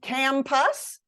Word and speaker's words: campus: The stressed syllable gets the full vowel sound. The other syllable often gets reduced all the way down to what we call schwa.